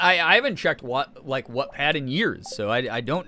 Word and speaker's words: Wattpad: I'd say watt like a light bulb.